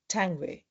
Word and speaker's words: Tanguay: Today I have with me Janet Tangway. Janet, did I pronounce your name correctly? Absolutely. Yes, that's a great pronunciation.